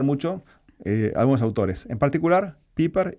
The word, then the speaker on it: Pieper: Piper. Ahí. Que es Pieper, se escribe Pieper, era un filósofo alemán.